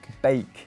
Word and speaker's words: Beek: Bake. You pronounce it bake, do you? Normally in German and Dutch, like a double E often is like an A sound.